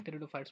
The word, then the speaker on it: Pteridophytes: तो स्टार्ट करते हैं आज का टॉपिक, दैट इज टेरिडोफाइट्स। ठीक है ना। यहाँ पे पी साइलेंट रहता है, टेरिडोफाइट्स पढ़ते हैं इसको।